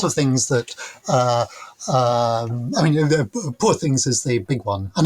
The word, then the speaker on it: Poor Things: I mean, Poor Things is the big one, and of course, it's Poor Things rather than Poor Things, rhyming with Paw Patrol. Because it has to be very much a, it is a Glaswegian title.